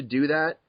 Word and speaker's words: daith: if I said well it's actually pronounced doth because da da da da I think people are going to be more annoyed at that so I just let them say Dave and you know that's